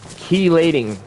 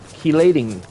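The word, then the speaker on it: chelating: And it's pronounced keelating keelating tablets.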